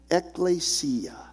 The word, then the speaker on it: ekklesia: The Greek word that's used throughout the New Testament scriptures for our English word church is pronounced ekklesia. Ekklesia. Say that along with me.